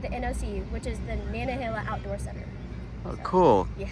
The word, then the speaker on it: Nantahala: Um so, you're going to the Nantahala Gorge. It is attached to the Nantahala River, and it's going to stop at the NOC, which is the Nantahala Outdoor Center.